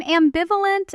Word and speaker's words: ambivalent: I'm ambivalent about launching next month. You feel how the stress falls right on that middle syllable. Ambi V. That's where the word gets its punch.